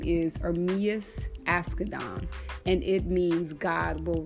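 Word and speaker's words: Ermias Asghedom: research and I wanted to understand how to pronounce his his birth name his birth name is armius ask Adan and it means God will rise so I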